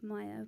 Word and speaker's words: Mair: My name is just at Mayer, Meyer, however you want to pronounce it. For if there's any Welshies in the house, it's Meyer, but anyone, you can say it however you want, I don't care. but it's like hair with an M, it's M-A-I-R.